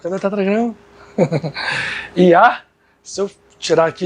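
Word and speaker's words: יה: Yah, se eu tirar aqui e deixar só essas duas, se pronuncia Yah.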